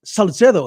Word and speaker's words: Salcedo: Well, actually, technically, it's Salcedo if you want to pronounce it, like actually how it's pronounced in Spanish. But I usually go with the English, the Spanish, third year Spanish pronunciation in high school. So Salcedo is what I go with.